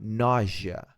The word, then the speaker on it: nausea: Next symptom basic symptom nausea. This asa is pronounced as jia nausea.